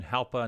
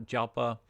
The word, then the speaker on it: Jalpa: called the helpa kendachia now that again that's kind of like an H instead of a j pronunciation helper not jalpa the one-year Trends up